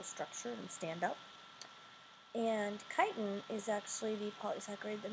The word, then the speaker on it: chitin: is cellulose and chitin this pronounced chitin and not chicken and these now are